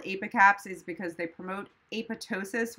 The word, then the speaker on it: ApiCaps: That's why they name them ApiCaps. So that's how you pronounce it.